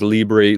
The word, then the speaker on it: Libre: it wrong I can't say it right it's Libre Libre lib nacho nacho Nacho Libre nacho that